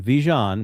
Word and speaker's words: Vigeant: And uh Phil, just like Djon, Vjon, that's how you pronounce his name.